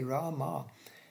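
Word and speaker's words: रमा: of of rad yeah Rama with a long a in the end as you can see we talk about Rama the Incarnation of Krishna is a long a in the beginning the first a is long there and not the last one so this is Rama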